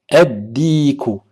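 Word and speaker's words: الديك: Dal, dikun, ad-diku. Ad-diku. Donc il faut bien prononcer la shadda.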